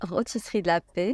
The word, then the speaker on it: Rôtisserie de la Paix: Rôtisserie de la Paix. Rôtisserie de la Paix. The restaurant is Rôtisserie de la Paix and the Dar Jaffa.